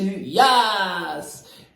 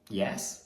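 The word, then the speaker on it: Yass: And I remember when we opened up talking about this episode, I said, welcome to Yas! And then we found out later that it's not called Yas. It's called Yes.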